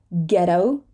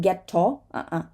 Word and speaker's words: ghetto: a g ghost ghost ghetto ghetto this is gonna be um a flap T right ghetto o not get tall ghetto spaghetti right spaghetti